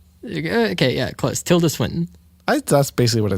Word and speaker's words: Tilda Swinton: I'm gonna sit here until you pronounce her name. Tilde Swinton. Okay, yeah, close. Tilda Swinton.